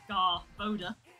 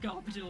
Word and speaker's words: Garbodor: But I watched the Pokemon anime, and it's technically pronounced Garboda, not Garbodor. Yeah, there's not another R.